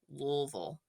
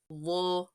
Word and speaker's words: Louisville: pronunciations of louville but if you're from here you say Lille Lille Lille oh I did it